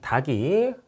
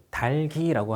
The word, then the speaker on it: 닭이: 물음표가 뜨는 단계인데 에이크만은 에이크만이라는 과학자는 각기병에 걸렸던 닭이 어 뭐 발음을 좀 닭이 아니고 달기라고 하는게 맞습니다. 달기라고 할게요.